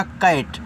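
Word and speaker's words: cat: सी ए टी तो सी से आपका हुआ का। ए का उच्चारण ऐ की मानता है रूप रूप में कै और टी से आपका ट ए हो गया कैट और कैट का मतलब होता है बिल्ली।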